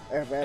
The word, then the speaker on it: Herrera: You don't pronounce the H. It's just Herrera. Herrera.